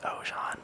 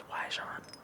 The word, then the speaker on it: Oajan: Generally known, or generally used, is Oajan, but in America, but I think technically in French it's Oajan.